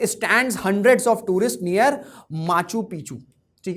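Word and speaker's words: Machu Picchu: Next location का context ये है कि Peru protest stands hundreds of tourist near माचू पिचू। ठीक है, उसे मचू पिचू कहेंगे, मचू पिचू पढ़ेंगे। ठीक है, प्रोनाउंसिएशन डिफर कर सकता है।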